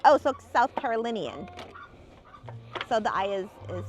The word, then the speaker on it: South Carolinian: Um, if that helps, similar to the sound when you say linen. Oh, so South Carolinian.